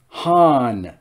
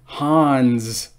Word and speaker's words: Han: all right han solo han don't pronounce it hans well i guess it will now han solo you know